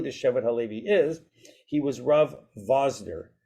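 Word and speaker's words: Wosner: is he was RAV vasner vasner but spelled with a W so you would look at it you'd say wasner but they actually pronounced it with a V right just like vodka or vodka right so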